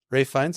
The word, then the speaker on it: Ralph Fiennes: Rafe Fiennes, yes. Ray Rafe. Fiennes. Rafe? It's because it is spelt Ralph. Like it's Mhm. fucking spelt Ralph, but Mhm. he pronounces it Rafe.